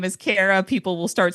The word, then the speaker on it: Kara: If you get Brits, they're they're going Kara or they're starting to slide into wanting to say Clara. Kiwis go Kira. If I say my name is Kara, people will start spelling